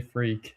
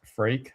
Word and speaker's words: Freek: you say that, because most people, the first time they see my name, they say Freek, and Freek. at this point I get used to it, but it's pronounced Freek. I always say Drake Freek or Rake Freek.